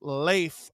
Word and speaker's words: Leif: My name's pronounced Leif, not Leaf.